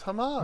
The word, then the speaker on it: Hamas: Get some, you know how it's pronounced. No, it's Hamas.